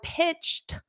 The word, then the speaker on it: pitched: you would say I pitched notice is that pronunciation of Ed pitch it's a very soft T pitch repeat after me pitched